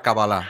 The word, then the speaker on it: cábala: hebreo se dice la cábala se dice cábala acento en la final pero bueno en castellano si te fijas es una palabra esdrújula se ve escrita como cábala acento en la primera no y a partir